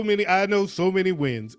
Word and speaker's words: Nguyen: Ain't that actually Nien? It's a Vietnamese name. No, it's Win.